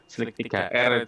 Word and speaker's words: Slic3r: tampilannya seperti ini namanya Slicer e-nya pakai angka tig berarti Slicer ituitung bacanya Slik 3R juga boleh Saya kurang tahu mana yang familiar Ya tapi saya pahamnya Slicer seperti slier lain ee poin penting